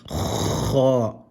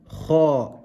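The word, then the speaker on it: خاء: I repeated that one again because you don't want to roll and say kha. It's kha with a full mouth.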